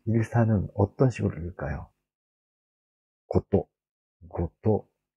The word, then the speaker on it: 事: 고또, 고또, 지, 훈독과 음독으로 여러 가지 발음이 날 수가 있습니다.